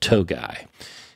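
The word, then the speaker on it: Tuğay: He's based in the UK, but he says he's from Turkey, and his name is pronounced Togai.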